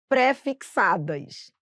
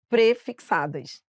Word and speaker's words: prefixada: Por exemplo, as pessoas falam parcelas préfixadas, infelizmente não vai poder falar assim, são prefixadas e aí você vai gravar junto, entendeu?